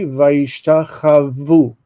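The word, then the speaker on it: וישתחוו: It would be vayishtachavu on the end. On the end, it would be yishtachavu with a vav. It has that's they bowed down. Vayishtachavu, the accent on the end.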